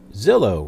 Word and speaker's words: Zillow: Disney resetting star wars Zillow rhymes with pillow and I don't know